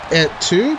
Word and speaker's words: et tu: Et tu, right? No, you don't pronounce the T. Oh. Et tu? Et tu? Okay. Don't say et.